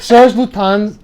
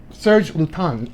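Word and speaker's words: Serge Lutens: Serge Lutin, another. Serge Lutin. There's no S. The S is silent.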